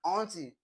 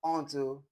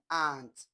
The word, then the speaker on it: aunt: So we say h aunt aunt my aunt my auntie is not aunt it is a aunt. Aunt aunt because the sound is ah ah.